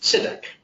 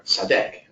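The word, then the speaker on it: צדק: And the word for righteous in Hebrew is tzedek, or tzadek. It can be pronounced both ways.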